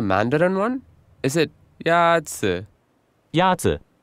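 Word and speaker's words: 鸭子: Yazi. Is pronounced with a first tone.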